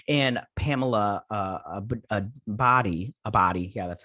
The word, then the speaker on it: Abdy: by michael deluca and pamela a a body a body yeah that's how you say her name uh